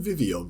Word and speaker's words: Vivillon: Milo, are you saying Vivillon, bro? Just read That's how you Vivillon.